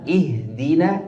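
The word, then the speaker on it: اهدنا: ujat ujat uj ujm tu ujuz lakin huna ihdina adal adal maksur adal adal maksur fakul fi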